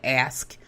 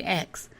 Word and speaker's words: ask: me to say ask and most people do they don't say ask they say X he said that's not that's not the way you pronounce me anyway you have